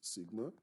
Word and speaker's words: sigma: standard deviation sigma subscript x and this is pronounced sigma it is pronounced sigma and it represents the standard deviation of a